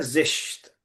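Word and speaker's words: زشت: उसके बाद आता है जिश्त, अगली. ठीक है. उसका अपोजिट है जीबा. सुंदर खूबसूरत। हम्म. हालांकि जिश्त को बस बैड किस, जिस्त का मीनिंग क्या है? जिश्त, हाँ जिश्त जिस्त, यानी बैड, बैड, बैड।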